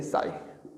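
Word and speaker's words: ψ: Okay, तो इसकी pronunciation होती है इस तरह से साई।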